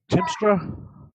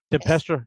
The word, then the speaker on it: Tempestra: It's Timstra. Am I pronouncing it correctly? Say what? Timstra is his magic. Tempestra. Yeah. For those that are like, oh, what's this out? Tempest, like the weather.